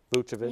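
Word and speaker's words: Vučević: Was it Vucevic? Yeah. I'm happy he got into the All-Star game this year too. Representing Orlando proudly. I'm going with him. Proudly. Sorry, I pronounced his name wrong. Vucevic.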